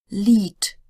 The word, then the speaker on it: Lied: If it's at the end of a word or a syllable, it sounds more like an English T. Lied, Freund, Land.